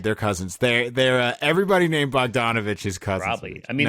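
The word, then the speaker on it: Bogdanović: Is it Bojan Bogdanovic? Bojan Bogdanovic, Okay. yeah. So close to Bogdan. Bogdanovic, yeah. Is an injured man. Cousins, right? Yeah, dude, they're cousins. They're everybody named Bogdanovich is cousins.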